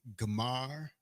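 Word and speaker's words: גמר: You will pronounce it Gamar.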